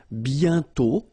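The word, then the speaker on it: bientôt: and then B okay remember you put this a on circlex but you don't write it oh you sorry you write it but you don't pronounce it and then the final is not pronounced B okay and then you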